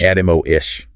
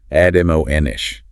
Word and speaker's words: admonish: Admo-ish. Stress on the second syllable. Admo-ish.